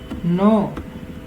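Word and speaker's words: know: general diary keep रखना नो नोने जानना के एन ड नो के साइलेंट नो कहेंगे होगा इसम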